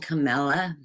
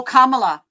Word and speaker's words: Kamala: who you're talking about biden and camilla our president and vice president oh kamala kamala okay so i don't say